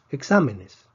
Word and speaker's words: exámenes: no necesita acento decepción exámenes esta palabra tiene cuatro sílabas exã menes termina en ese pre decimos que la fuerza debería estar en la penúltima sílaba está en la antepenúltima afilada es una excepción